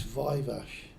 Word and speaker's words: Viveash: How is it properly pronounced? It's Vivash and it's ad not ADI.